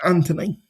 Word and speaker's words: Anthony: The H is silent. So it's Anthony.